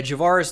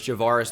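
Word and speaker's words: Javarris: free agent though um somebody has actually mispronounced his name as javara's laundry before it's so funny if you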